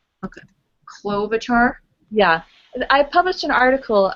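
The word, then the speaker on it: Klobuchar: Um, Senator Clolobachar from Minnesota. She's also very important. She's an agriculture committee member. Say her name again. Say her name. Clolobachar. Okay. Clolobachar.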